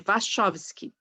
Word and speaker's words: Wachowski: Lily e a Lana, né, Wachowski, difícil de pronunciar o nome, Wachowski.